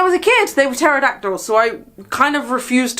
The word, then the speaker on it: pterodactyl: called pterodactyls anymore, but they have a silent P at the front of pterodactyl.